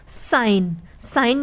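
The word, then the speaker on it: sign: जी साइलेंट रहता है तो जिस भी शब्द में जी के बाद की वहां पर जी साइलेंट रहता है जैसे सी जी एन साइन यानी चिन्ह तो यहां पर जी के बाद क्या ए रहा है एन ए रहा है इसलिए यहां पर जी साइलेंट है यानी जी है तो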